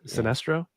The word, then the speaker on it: Sinestro: And this is Sinestro. Sinestro? Am I right? Did you pronounce it right? The pronunciation? Yeah, Sinestro.